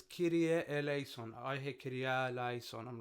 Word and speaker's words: Kyrie eleison: Okay, so it's Kyrie eleison. I hear Kyrie eleison. I'm like, there's no alpha. Go say Kyrie eleison to a Greek person. They're just gonna laugh.